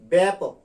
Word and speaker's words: ব্যাপক: যে এটা ব্যাপক, বলতে হবে ব্যাপক, ব্যাপক।